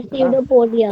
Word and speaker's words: pseudopodia: कोई पी, पी यहां silent होता है, ठीक है सर? पी क्या होता है? साइलेंट होता है। पी स्यूडोपोडिया मत पढ़िएगा, या पूडोपोडिया मत पढ़ने लगेगा। पी साइलेंट होता है, तो बोले स्यूडोपोडिया।